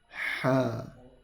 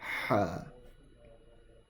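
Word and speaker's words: ح: Okay, you need to feel the air, the vibration from your throat if you want to pronounce this one correctly. Ha.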